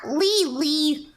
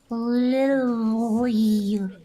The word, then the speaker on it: Lily: Listen, it's not hard to pronounce Lily. Not Lee. Lily.